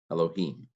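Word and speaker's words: אֱלֹהִים: Vav patak doubled yod, holam aleph, mem sagol resh, aleph katef sagol, lamed holam, hey hirik yod final mem, Elohim. Yod, hirik, sheen, silent schwa. This syllable is closed, yish.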